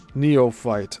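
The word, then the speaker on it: neophyte: Old pros consider many parts of the Bahama banks as dangerous and consider them especially hazardous for the neoight sailor. And that's spelled N O P H Y T E.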